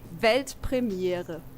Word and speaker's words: Weltpremiere: It's actually Weltpremiere. Oh, pretty similar, yeah, right? I think I could do that. Yeah, do it. Weltpremiere.